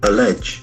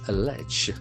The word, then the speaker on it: allege: The pronunciation very tricky. Allege. Allege.